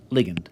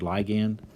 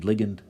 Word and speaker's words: ligand: Some people pronounce this word ligand. Most of my professors said ligand, so I typically say ligand. But, ligand is also, as far as I can tell, an acceptable pronunciation.